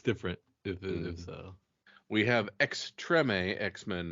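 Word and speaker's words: Extrême: I think it's pronounced Extreme X-Men. I believe it's Extreme. It's French. Extreme?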